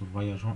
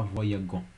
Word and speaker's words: voyageons: Mais n'oubliez pas un E pour que voyageons se prononce voyageons et pas voyagons. Voyageons.